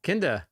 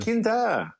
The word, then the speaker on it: Kinder: Is it German? Yeah, Kinder. Oh, kindergarten. Kinder. Yeah. Is it Kinder? I might be saying it wrong. Well, I mean. Normal. I won't say normal, but English people wouldn't say Kinder.